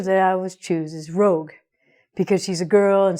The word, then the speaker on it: Rogue: But honestly, dude, the girl's name is not Rogu or Ragu. No, he said Rogu. It's Rogue.